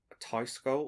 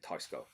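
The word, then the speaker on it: Teisco: going to butcher this tyscal or tesco i'm just going to say tesco because that's how everyone says it on the internet but i'm going to pronounce it tyscale okay um it's a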